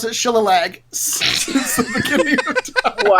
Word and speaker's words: Shillelagh: So for the cantrip, I was going to do Shillelagh. Is that how you pronounce that?